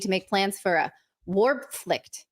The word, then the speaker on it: Wehrpflicht: Okay, so they're saying they need to make plans for a Warpflicht. How do you say that word? Warpflicht. What word are you pointing to? This word, Werpflicht. No, Werpflicht. that one. Wehrpflicht.